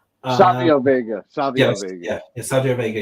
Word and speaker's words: Savio Vega: Sergio Vega. Savio Vega.